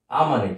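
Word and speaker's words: amo: তাহলে এটার উচ্চারণটা কি হলো, আ ম। তাহলে আ ম, আ ম। তাহলে আ আ হচ্ছে খুব দ্রুত উচ্চারণ করতেছি, মটা একটু টান দিতে হবে, আ ম।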